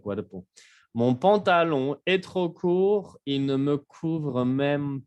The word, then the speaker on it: court: Court, courte. Se pronuncia la R y en femenino se pronuncia la T.